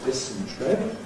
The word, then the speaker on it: dysentery: So, in other words, misspelling it as if it had a categorical compression in it, because it's usually said with a compression.